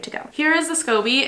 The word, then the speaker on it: SCOBY: So I'm gonna grab a piece of this SCOBY so I can do my own kombucha stuff at my apartment, and I'm very grateful and I'm very excited.